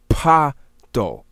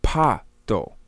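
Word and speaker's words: Patho: If we look at the isiZulu, the pronunciation and concept could be Pato, P-A-T-H-O, Pato.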